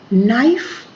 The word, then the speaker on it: knife: Then handsome, this is not handsome, this is handsome, D is silent here. Height, E. Knife, K.